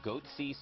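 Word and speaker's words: Goatse: They're called Goatsy Security. Is that, am I pronouncing that correctly?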